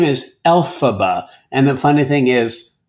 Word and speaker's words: Elphaba: No, she's Elphaba. Stress is on the first syllable, the same way it is in the name Dorothy, and also, for that matter, in the name Margaret and Hamilton, Elphaba.